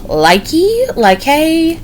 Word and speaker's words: Lykke: It is the Lyke. It is spelled Lykke.